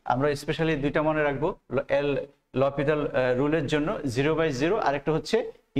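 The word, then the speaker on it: L'Hôpital: Note, এল হসপিটাল, কিন্তু এটার মেন উচ্চারণ হচ্ছে লপিতাল মাই স্টুডেন্ট। অনেকে এটা এল হসপিটাল বলে থাকে, কিন্তু এটা মেন উচ্চারণ হচ্ছে লপিতাল।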